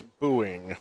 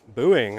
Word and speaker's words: Booing: And I should say that we've been pronouncing Joseph's last name wrong. It's Booing. Booing.